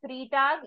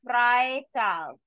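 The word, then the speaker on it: Freitag: called as FR tag it is not fre tag e i combination will always be the I sound so it will be fry T fry T that today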